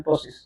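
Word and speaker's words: ptosis: जब दोनों साइड की आईलिड ड्रॉप होती है उसे अपन बोलते हैं टोसिस, जैसे पी साइलेंट रहता है, जैसे हम टोसिस बोलते हैं।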